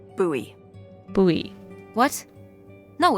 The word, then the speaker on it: Bowie: no warning he pulls out this huge Rusty Bowie knife it's actually pronounced buoy buoy what no it's like the last name